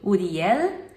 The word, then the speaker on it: Uriel: E também um nome que eu acho lindo é Uriel, que em hebraico a gente pronuncia bem parecido, Uriel.